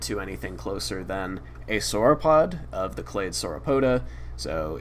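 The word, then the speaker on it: sauropod: In this case, um I haven't identified this fragment to anything closer than a soropod of the clay sorapota.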